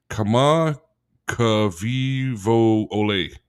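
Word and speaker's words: Kamakawiwoʻole: It's Kama Kavivo Ole.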